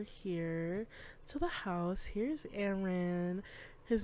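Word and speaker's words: Arin: Here's Aaron. His name is spelled A-R-I-N.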